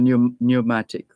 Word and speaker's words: mnemonic: something so this is an example of a new pneumatic uh and it's spelled m n e m o n i